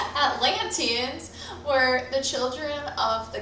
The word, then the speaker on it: Atlanteans: plato's he said that plato said athelanians were i just said athletes i was going to say i've been saying it wrong this whole time atlanteans were the children of